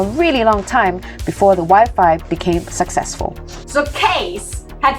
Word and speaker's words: Wi-Fi: It was actually Case's wife Angela who came up with the name Wi-Fi after its original name wireless fidelity. It rhymes with high five.